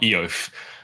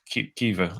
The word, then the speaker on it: Aoife: Well, yeah, I know it's not Eof, but at the same time, I have no idea how to actually pronounce it because the way it's spelt and the way you pronounce it are just so different. So it's Kiva.